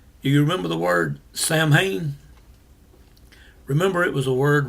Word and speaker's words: Samhain: It's actually pronounced Samhain.